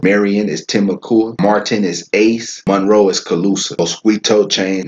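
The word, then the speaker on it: Ais: Indian River is Ace. That's spelled A-I-S.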